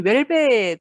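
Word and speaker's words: Houellebecq: 말든 웰벡 이거든요 그래서 웰벡 으로 발음을 하는데 어 일단 우리나라에 번역본이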